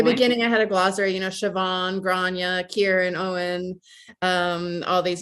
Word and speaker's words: Siobhan: I have I know it's Siobhan, right? Yeah. I have such a hard time remembering how to pronounce that name.